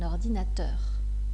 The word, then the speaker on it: ordinateur: qu'il n'est jamais écrit la règle générale est que l'accent tonique et portait sur la dernière syllabe des mots voyez ici un ordinateur un ordinateur mais si la dernière